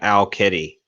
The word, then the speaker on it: Owl Kitty: you should check out Owl Kitty. I don't even know about that. As it sounds like it's spelled OWL Kitty.